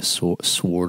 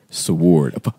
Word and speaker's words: sword: He's giving away a sword or an axe or a shield. Dude, you don't pronounce the W. It's like it's silent.